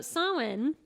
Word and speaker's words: Samhain: not to have we yeah we did so sawin or saowin sewin sweeney moeen moeen adeen okay okay so sawin is one of the eight zabots on the